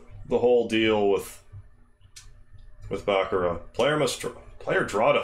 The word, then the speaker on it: baccarat: I know it's spelled Baccarat, and I've said Baccarat in the day, but it is Baccarat, or closer to that.